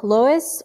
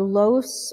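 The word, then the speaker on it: loess: going to migrate okay so lois or los or laos and has a many different ways of pronouncing this this is thick wind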